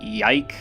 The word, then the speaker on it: YIIK: inclined to say that I'd pronounce it yike if I had to as though there were a theoretical singular to yikes and that guy's gone